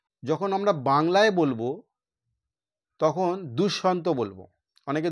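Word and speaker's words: দুষ্মন্ত: আমরা বাংলায় বলবো তখন দুঃসন্ত বলবো অনেকে দুশমন্ত বলে দুশমন্ত হচ্ছে সংস্কৃত ভাষার একটা উচ্চারণ যেমন প দয়ে আমরা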